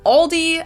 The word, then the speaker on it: Aldi: for very low prices in English people usually pronounce this Aldi I think I've also heard LD before but I think most people say Aldi or they also sometimes add an s that isn't there in the end and say all these